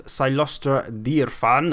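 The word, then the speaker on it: Cylostra Direfin: My lord is Silostra Dirfan, as she pronounces her name, although I call it Silostra Diafin, but whatever.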